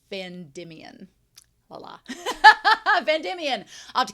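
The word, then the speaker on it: Vandimion: also wolf thank you he points out that far's last name is Van Demian not vand dominian so I've been adding extra syllables why not so it's vandian voila vandian I'll have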